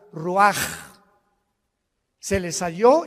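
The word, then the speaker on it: רוּחַ: Así como suena, se pronuncia la CH en hebreo como J, Roach.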